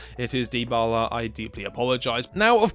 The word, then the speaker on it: Dybala: It's Dybala, not Dybala. I am very sorry. I'm a silly English man who knows not how to pronounce other people's names. It is Dybala.